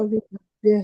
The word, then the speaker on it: विभव्य: मैं ऐसे पढ़ रहा हूं, विभव्य, कोई दूसरा उच्चारण हो सकता है इसका, विभव्य। क्यों भव व य, यही होगा, विभव्य ही होगा। विभव्य ही होना चाहिए हाँ ना।